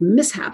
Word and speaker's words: mishap: But then if a child encounters a word like mishap, and we might show them this word because they're probably not going to encounter this themselves so early, I wonder if that's an SH there too. Is that an SH digraph? And we can clearly see that it's not when we separate it.